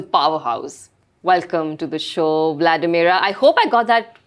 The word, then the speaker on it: Vladimira: Welcome to the show, Vladimir. I hope I got that right. The pronunciation you actually did.